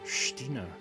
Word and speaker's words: X-Tina: Ex-Tina, pronounced Stina.